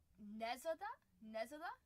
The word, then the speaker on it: Nezada: It's it's technically pronounced traditionally as Nezada.